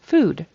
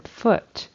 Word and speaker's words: foot: foot food foot food so he um voiced that final sound and made it a d instead of a t which it should have been and then mouth he